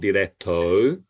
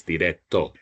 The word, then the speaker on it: directo: Okay, it's not directo, it's directo. Okay, so just one sound, O, we don't close our mouths.